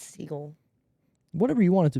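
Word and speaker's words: Segel: man or something with jason siegel because no it's seagull whatever you want it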